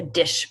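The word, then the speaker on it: DSH: mental disease is there something that's pronounced a dish payment and this is where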